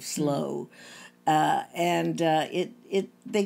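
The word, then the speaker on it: Slough: slow house house yeah it's spelled s-l-o-u-g-h but i think it's pronounced sort of slow uh and it it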